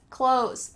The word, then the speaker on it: clothes: Clothes, clothes, this word trips up a lot of English learner but it sounds exactly like "close the door." Close the door, I'm putting on my clothes, same thing. You might hear some people try to add the TH in here, clothes. But really, when we're speaking quickly, it just sounds like close.